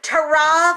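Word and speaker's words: ta-ra: everybody you be well Taron for now that's how they say it in the Midlands to AH another way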